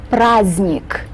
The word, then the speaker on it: праздник: Right in the middle, we have the letter D, but this letter is mute. It's not pronounced. This doesn't happen very often in the Russian language, but sometimes we do have these mute letters just sort of sit there and don't do anything.